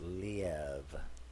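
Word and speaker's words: Liev: i'm like no it's according to him it's pronounced leave so l-e-e-v lee but yeah so that's cotton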